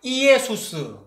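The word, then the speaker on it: Iesus: 전에도 말씀드렸는데, 이게 I가 E 발음 나니까 이에수스, 나자레누스, 렉스, 이우데오롬이거든요.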